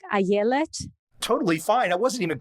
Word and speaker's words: Ayelet: Your proper pronunciation is Ayelet? That's totally fine. The way my parents would pronounce it would be more like Ayelet.